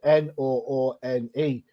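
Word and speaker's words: Noone: his next-door neighbors called noon and it's spelled n-o-o-n-e well i didn't read it as noon i read it as number one like no one i was like oh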